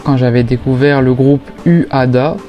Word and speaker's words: Uada: Je me rappelle encore quand j'avais découvert le groupe Uada, je vais le prononcer à la française dans le clip Cult